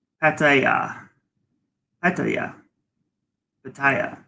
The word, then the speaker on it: Pattaya: a yeah Hector yeah Pattaya no fat tire so it's expensive and